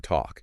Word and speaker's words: talk: So if word ends in "alk," Yeah. like walk or talk, Uh-huh. you can be pretty sure that L is silent.